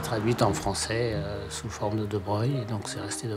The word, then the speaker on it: de Broglie: Affaire de Breuil. Ça s'écrit de Broglie. C'est des noms de fauchetons, ça s'écrit pas comme ça se prononce.